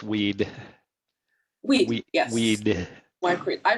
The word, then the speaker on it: Wehde: is and he's um I hope I pronounced that correctly it's weed weed yes weed I pronounced it the Arabic